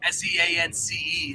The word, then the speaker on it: Seance: now but um yeah my name is spelled s-e-a-n so s-e-a-n-c-e is Seance so it's essentially like Sean's but it's like real close and it's still dark and cool too so yeah you